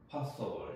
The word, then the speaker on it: possible: 그 다음에 이제 이거를 파소 불이라고 하면 안 되고 미국 사람들이 보통 어에 더 가깝게 발음을 합니다. 그래서 possible 이렇게 발음을 하셔야 돼요.